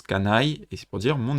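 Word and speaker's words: 家内: Ça se prononce kanai, et c'est pour dire mon épouse.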